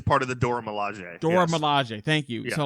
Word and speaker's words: Dora Milaje: Dora Milaje.